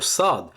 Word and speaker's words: ص: de la lettre sine pour bien prononcer le SAD il fa faudra positionner le bout de sa langue juste derrière les incisives basses de votre bouche de vos de vos